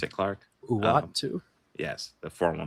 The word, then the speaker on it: Uatu: So I maybe Uatu, is that how you pronounce it, Clark? Uatu.